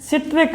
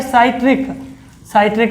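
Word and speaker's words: citric: एक और रह गया सिट्रिक अम्ल, सिट्रिक बोल लो या फिर इसी को प्रोनाउंसिएशन का फर्क होता है साइट्रिक अम्ल।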